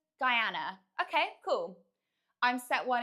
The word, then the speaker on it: Guyana: Guyana, you pronounce it as Guyana.